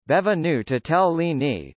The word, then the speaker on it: Benvenuto Cellini: benvenuto cellini Italian pronunciation bevin new to tell Leaney the 3rd of november